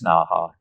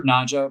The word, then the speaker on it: Naja: Number one, they're not in the genus Naha naja. I need I prefer naja, but that's technically not the way it's supposed to be pronounced.